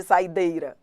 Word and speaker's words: saideira: Saideira, saideira, dei. Ah, tá bom. Por isso que o I não é acentuado, porque ele não é a vogal tônica.